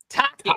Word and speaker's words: Tocchet: Can you pronounce his name? Because I'm going to say touche. Oh, Rick Tocchet? Tocchet.